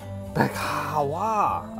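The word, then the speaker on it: Beczała: Ben's pronounced Bekawa.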